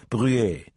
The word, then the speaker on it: Bruet: His cover name was Lucien Bruet, accented on the final syllable in the French manner, and he was supposedly the sales representative of a Belgian company selling agricultural implements and fertilizers.